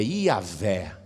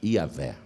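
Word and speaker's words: Yahweh: era transmitida apenas oralmente por isso que a pronúncia correta dessas quatro letras se perdeu ninguém sabe direito como se fala o nome de Deus o mais aproximado é yahvé mais aproximado yavé então é aqui O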